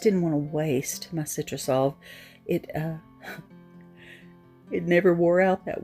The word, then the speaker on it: Citrusolve: When I was finished transferring the whole image, here's that Citrusol. I wanted you to see that that's what I'm using. And Citrusolve, S-O-L-V, I'm saying it wrong, Citrusolve.